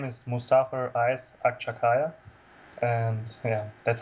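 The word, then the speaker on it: Akçakaya: name properly so my name is Mustafa is akshakaya and yeah that's how you pronounce it I guess and uh I I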